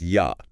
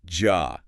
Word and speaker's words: ja: And critically it always sounds like the English Y. Always. So the word ya meaning yes is pronounced ya, not ja.